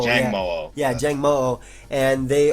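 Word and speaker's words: Jangmo-o: Jang Mo. Jang Mo.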